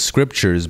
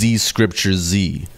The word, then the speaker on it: ScriptureZ: So, like, for example, my name is ScriptureZ, but I spell it with Z's. So the way that it pronounces it is ZcriptureZ, which is not the right way. So basically, I changed it to the normal ScriptureZ with S's, and it says it properly.